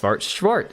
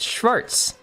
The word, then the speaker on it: Schwartz: back to my original not schwart Schwarz It's s c h w a r TZ took German for a